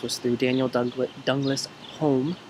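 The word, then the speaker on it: Home: through Daniel Douglas Douglas Holmes or Hume as he pronounced it who was probably one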